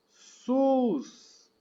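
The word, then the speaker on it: סוס: e sabe que significa não o pronúncia é sus o sus essa é a pronúncia dessa palavra que sus que significa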